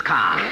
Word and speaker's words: Kerr: Yes, but in England it's pronounced car.